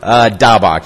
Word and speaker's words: Daubach: Daubach, just like Roger Staubach.